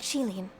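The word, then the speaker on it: Qilin: Chilin, huh? I never would have guessed it's pronounced that way.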